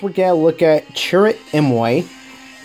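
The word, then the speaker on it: Chirrut Îmwe: got to look at churr mway churr mway this is is the correct pronunciation of his name and he has his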